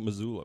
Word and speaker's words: Missoula: do these kids know that that can they pronounce Missoula like when they said oh and they called Mozilla or MCT they call it Missoula Missoula is coming to town that's what they